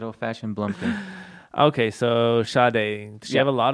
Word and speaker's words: Sade: I always want to say Sade. Yeah. Sade. I'll do some Sade. Helen Sade Adieu. How do you get Sade from Sade? At least Sadie. It's just how they pronounce it.